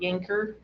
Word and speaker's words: Yankauer: Uh, So this is a Yankauer. That's how it's spelled. Yankauer. Yanker.